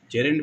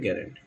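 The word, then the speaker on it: gerund: जेरेंट बोलते हैं actual में, सब बोलते हैं गेरेंट, लेकिन जेरेंट होता है ये, ठीक है। सबसे पहले आपको प्रोनाउंसिएशन आनी चाहिए, इसको जेरेंट कहा जाता है।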